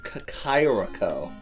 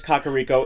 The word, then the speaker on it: Kakariko: It's Kakairiko. Actually, it is Kakariko. In Breath of the Wild, they pronounce they say it.